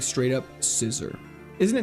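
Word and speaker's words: Scizor: It's not Caesar, it's Scissor. There's no way it's meant to be pronounced as Scissor, right?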